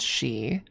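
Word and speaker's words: sídhe: Uh s i d h e is pronounced she.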